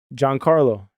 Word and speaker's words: Giancarlo: How do you pronounce that, Mario? Giancarlo. What's his last name? Really? It's Giancarlo.